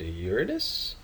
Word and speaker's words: Uranus: less than one uh this is Uranus uh it has some people mispronounce it but it is named Uranus uh then we have